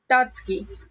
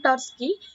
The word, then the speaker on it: Trotsky: Lenin Trotsky. Here T is silent, so that is Trotsky.